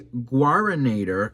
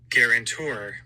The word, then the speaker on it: guarantor: Okay, so a guaranator, let me see how you say it. Hang on. Guarantor.